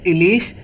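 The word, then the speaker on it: ইলিশ: One is din and second one is ilish and the pronunciation of I. The sound is E. Short E sound.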